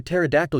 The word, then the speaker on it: pterodactyl: can't you hear a pterodactyl use the bathroom I don't know why because the p is silent everyone laughs hey guys